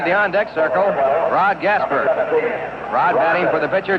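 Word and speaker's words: Gaspar: long beach california rod gasper he spells his name g-a-s-p-a-r pronounces it as it were spelled er and the first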